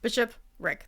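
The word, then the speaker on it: bishopric: the word it's like it sounds like a Shakra he's like Bishop Rick or I know it's weird but um Bishop Rick that's how you say it the bishop rck is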